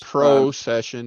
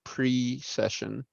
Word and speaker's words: precession: Yeah, it's Colors, not pro-session, it's pre-session.